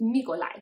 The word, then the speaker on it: Mikołaj: When you break it down phonetically with the Polish alphabet, the what looks like an L slash, that is pronounced as a W, and the J is pronounced as an I or a Y. This is how I would write it if I was using the English alphabet. It's Mikolaj.